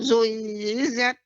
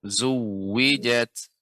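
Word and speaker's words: زُوِّجَتْ: Wa idzan nufusu zuizat. Zuwijat. Berarti kini ada tasydid pada huruf waw. Zuwijat.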